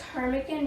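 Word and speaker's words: ptarmigan: I think it's pronounced kic because the p is silent and it's a bird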